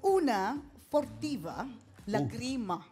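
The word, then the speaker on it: Una furtiva lagrima: Pwede mong kantahin yung una fortiva lagrima. Okay po. Tama ba yung pronunciation ko? Tama po.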